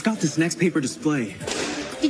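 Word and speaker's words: NXTPAPER: And babe, it's got this next paper display. Did you say next paper? Next paper. Next paper. Next paper. That's spelled NXT. Why' they drop the E? Cuz it looks cooler.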